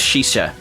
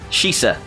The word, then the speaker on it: Shisa: Growlithe and Arcanine are suggested to be based on the Japanese dog statues known as Shisa. Sorry, I pronounced that wrong, that's the place where you vape. Shisa, or guardian statues resembling